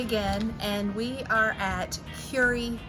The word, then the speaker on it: Kure: It's Terry again, and we are at Kure Beach, pronounced Curie.